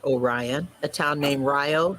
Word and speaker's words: Orion: named Milan, not Milan, a town named Orion, not Orion, a town named Rio, not Rio, a town named Viola, not Viola, and I'm missing one. Viola, Rio, Orion, Milan.